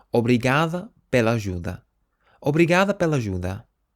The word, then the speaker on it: obrigada: But if you're a female, you would say instead obrigada. Obrigada. So you change the O to an A.